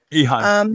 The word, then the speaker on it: Eheim: Eheim. Eheim.